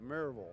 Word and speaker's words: Maryville: Well, it's it's really mural. But if you're a little more sophisticated, it's Mer Vul.